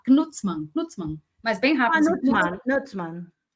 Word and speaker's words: Gnutzmann: O seu sobrenome é Knutsman? Não. Knutsman. O G se pronuncia. O G, na verdade, você fala como se fosse um K. Knutsman.